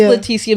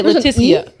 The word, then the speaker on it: Letitia: So, it is Leticia, but you say Laticia. My name is spelled L E T I T I A.